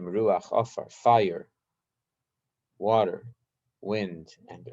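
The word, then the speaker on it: רוח: And they're called Eish, Mayim, Ruach, Ofar. Eish is spelled Aleph Shin, Eish.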